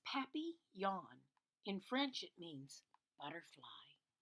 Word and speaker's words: papillon: You say it like this: papillon.